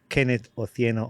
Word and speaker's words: Kenneth Otieno: And today I'm excited to have Kenneth Otieno on the podcast. Did I pronounce the name right?